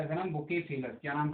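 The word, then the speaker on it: Bucephalus: शानदार, जिसका नाम था, क्या था इसका नाम, बुकेफेलस। क्या नाम था इसका, बुकेफेलस है ना। कहीं कहीं इसको क्या बोला गया है, बहु केफला बोला गया है, बहु केफला।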